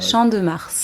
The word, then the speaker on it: Champ de Mars: Champ de Mars. Champ de Mars. So you do pronounce the S? Yes. I've been saying that wrong for 5 years. Okay. Champ de Mars.